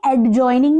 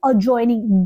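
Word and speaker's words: adjoining: देखिए एडजॉइनिंग नहीं, अजॉइनिंग, डी को साइलेंट कर देंगे इसमें।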